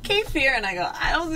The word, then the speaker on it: kefir: So this is called, some people pronounce it kefir. My mom always pronounced it kefir, but.